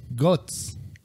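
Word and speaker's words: Götz: What was this dude's name? Gutz, pronounced Gutz.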